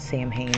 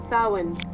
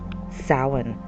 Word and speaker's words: Samhain: you guys the right way don't call it Sam hay that's not how you pronounce it we're going to call it like this Sin Sin right and some traditions and customs of uh